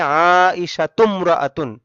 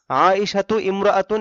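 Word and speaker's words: عائشةُ امرأةٌ: যদি বলি আয়েশা একজন মহিলা, তাহলে হবে আইশাতুমরাআতুন। আইশাতু ইমরাআতুন এটা ভুল বলা হবে। আইশাতুমরাআতুন, আয়েশাতু এই তু মিমকে ধরবে।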